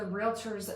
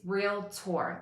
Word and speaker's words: Realtor: time all the time it's real tour like real r-e-a-l-t-o-r realtor like doctor okay there's no i in there anywhere it's not relator or